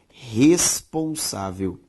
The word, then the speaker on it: responsável: A sílaba tônica de responsável, sa, é uma palavra paroxítona.